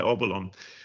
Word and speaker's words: Obolon: This is a I hope I'm going to pronounce it right. Obolon, is that right? That's correct, Stuart. Yeah, Obolon.